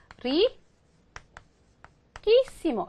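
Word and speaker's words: riquísimo: 빼고 이모를 이렇게 붙이나요 그럼 얘는 어떻게 읽게 돼요 시머가 돼 버리죠 그죠 그러니까 발음이 달라지잖아요 그런데 스페너는 어떻게 한다고요 원래 갖고 있던 발음에 따라 철자를 바꿔 준다 그랬죠 그래서 리코에 맞게 리끼 이모에 맞게 써 주느라고 어떻게 쓰게 된다 리 끼모 이렇게 쓰게 된다는 거죠 그죠 이거 동사 변화할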